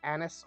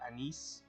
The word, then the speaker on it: anise: star anus right snu I believe it's pronounced either Anis or anise yeah an B will